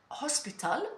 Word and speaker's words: hospital: steps of learning Spanish yeah so we don't pronounce it so hotel we say hotel uh hospital we say Hospital yeah so again for the